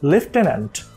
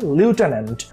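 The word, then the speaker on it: lieutenant: Type করছেন, বই type করার সময় আমরা যেমন উচ্চারণ করি কি লেফটেন্যান্ট, কিন্তু শব্দটার সঠিক উচ্চারণ হচ্ছে লিউটেন্যান্ট।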